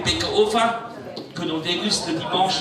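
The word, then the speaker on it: Baeckeoffe: Le Bäckerofen, dit le four du boulanger, prononcé Bäckerofen, que l'on déguste le dimanche dans les familles barénoises, le dimanche où il n'y a pas de choucroute.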